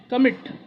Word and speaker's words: commit: Similarly, commit, we don't say commit, we say commit, commit. So here again the second syllable is stressed, so we have doubled the T and added ing.